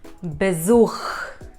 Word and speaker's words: Besuch: Yes, it is Besuch. Besuch. Then some of the letters in German are pronounced differently than in English, like the letter J has a Y sound.